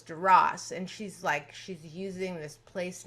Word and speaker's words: Duras: The S is pronounced, which is considered kind of crude in the French language. And not just Francophiles, but even French people will sometimes say Duras. And Duras was Duras.